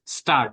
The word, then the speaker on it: Gstaad: This is GSTAAD, but this is pronounced as Star.